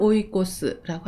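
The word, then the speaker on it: 追い越す: 목적, 사실을 추구하다 할 때는 이 한자를 써서 찌규라고 읽습니다. 훈독은 오입니다. 쫓다, 추구하다를 오라고 하고요. 순풍을 오이까제라고 합니다. 그리고 추월하다를 오이코스라고 합니다.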